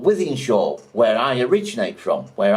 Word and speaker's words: Wythenshawe: spell it, but that's Wythenshawe. See how it's spelt? It's not spelt with an I, it's spelt with a Y, and shore is spelt with a W.